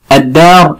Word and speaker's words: الدار: الدار اللي هو البيت، الدار اللي هو ايه؟ البيت. وكلمة الدار اللام اللي فيها ايضا شمسية لان بعدها حرف مشدد، وحرف الدال ده من